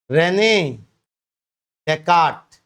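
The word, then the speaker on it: René Descartes: उनका नाम था रेने डेकाट। ये नाम सुना है इससे पहले कभी रेने डेकाट। नाम था उनका रेने डेकाट। यस साइलेंट है रेने डेकाट।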